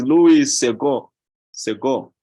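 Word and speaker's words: Louis Segond: not pronounced as the in French the consonant at the end of the word is not pronounced so this is Louis Sego Sego okay so I did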